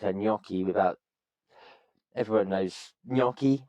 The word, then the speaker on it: gnocchi: Everyone knows gnocchi, right? So it's a GN spelling, and you wouldn't, if you didn't know gnocchi, you wouldn't know not to pronounce the G.